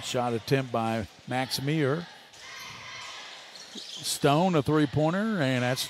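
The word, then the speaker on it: Meagher: I think he's saying Meir or something. It's spelled really funny. M-E-A-G-H-E-R.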